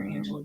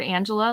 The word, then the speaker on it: Angela: No, it's what's funny with the word Angela, like technically there is a Spanish pronunciation, but like my family in Venezuela with other Angelas in Venezuela call them Angela. It's not Angela. So I think it's very regional when they choose to do the soft or hard G.